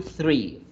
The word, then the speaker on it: three: tri tri one two three three ojo también con tratar de pronunciarlo en una forma de f porque entonces se nos confundiría con la palabra gratis o libre que es free free ride free